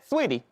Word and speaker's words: Saweetie: Now, see, that's what I'm talking about, though, Saweetie. Am I pronouncing her name correctly? Yeah, Sweetie.